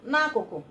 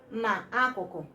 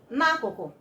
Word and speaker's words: n'akụkụ: You pronounce it together, n'akụkụ, n'akụkụ, and not na akụkụ, but n'akụkụ. Okay, that is what we mean by using na as a prefix to all prepositions.